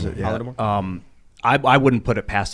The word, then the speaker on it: Holodomor: Is that how you pronounce it? Yeah. Holodomor.